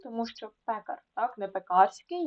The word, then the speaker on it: пекарський: металургія тому що Металург пекарський тому що пекар так не пекарський ні пекарський підлітковий тому що підліток боязнь